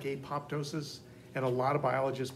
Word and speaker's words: apoptosis: word and how that, like in pneumonia, the P is silent.